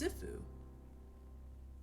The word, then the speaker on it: Sifu: still says seafood sifu it's sifu i've been saying it wrong okay the game is called sifu not seafood got it cash was coming